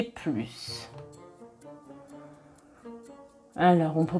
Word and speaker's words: plus: Au début de la vidéo, j'ai dit « je veux plus de vacances ». Donc quand on prononce le S, le plus a un sens positif.